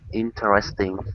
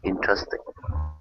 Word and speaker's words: interesting: In this sentence, we say they are become there, and interesting become interesting. So this 4-syllable word gets switched to a 3-syllable.